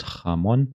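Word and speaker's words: jamón: So J sounds like, for example, jamon is pronounced jamon.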